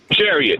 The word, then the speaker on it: Jerriot: Is this Jerriot? Chariot, yeah. It's more of an IT sound at the end.